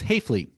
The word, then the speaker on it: Hafele: Hayflie. Hayflie. So yeah, it's it's it's unfortunate. Hayflie is pronounced wrong in both German and English.